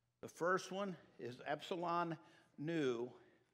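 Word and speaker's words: ἐν: into in ephesians the first one is epsilon nu n is how you say that and it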